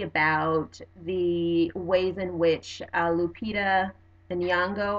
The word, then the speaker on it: Lupita Nyong'o: the ways in which Lupita Nyong'o I believe that's how you pronounce our name and you know her